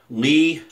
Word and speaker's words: LEA: And I'm going to chase it with LEA aftershave. I say LEA because it's spelled like my last name. I don't care if it's Lee or Leah. It's LEA in my book, which is from Spain.